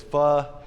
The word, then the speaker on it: pho: And so we go in, and I don't know what's proper to pronounce it, pho or pho. Probably a redneck like me pronounces it pho, but it's pho.